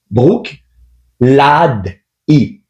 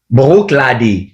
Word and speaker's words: Bruichladdich: La vraie façon de prononcer ce nom-là, c'est Brook. Brook lad i. Brook lady. Brook lady. Oui.